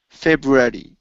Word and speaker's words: February: Eddie instead of Eddie it's Airy Fe February February oh almost almost so Fe February okay so